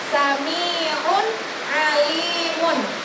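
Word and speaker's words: سميع عليم: Jadi cara bacanya harus jelas. Sami'un alimun. Tidak boleh dibaca sami'un alim. Tidak boleh. Karena hukum bacaannya harus dibaca jelas. Jadi sami'un alimun.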